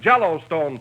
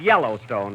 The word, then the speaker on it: Yellowstone: Out West we have jell Stone Park wait a minute wait a minute that's that that's pronounced Yellowstone Don but I can see